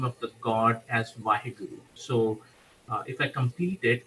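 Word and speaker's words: ਵਾਹਿਗੁਰੂ: In Sikh faith, it's called Vaheguru. It's spelled as Waheguru, Vaheguru.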